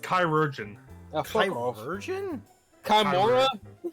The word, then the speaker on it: chirurgeon: Chirurgians. Oh, it's pronounced chirurgeon.